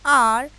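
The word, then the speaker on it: hour: तो क्या रूल बनता है, before a word beginning with a silent H एज एन आर, an honest man, etcetera.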